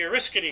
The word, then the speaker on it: Oriskany: all on So, aircraft carrier USS Oriskany? Is that how you say it? The Oriskany.